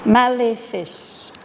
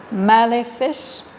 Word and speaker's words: malefice: Malefice. We can say benefice. That means it gives you some benefit. It does you good. Malefice. It does you harm.